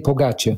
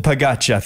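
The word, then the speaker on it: Pogačar: it's Tadej Pogacar. Pogacar, thanks, mate. Pogacar. Yeah. I mean, is he going for it? Little V's on the C.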